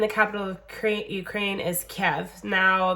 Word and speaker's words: Kiev: capital of Ukraine is Kev now there's lots of different ways to pronounce it um Keith but I think Kev is how they say it on the CD so that's how I'm gonna say it so we have